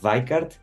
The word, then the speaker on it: Weickert: No, mira, el apellido se pronuncia Weikart porque es alemán y la pronunciación es con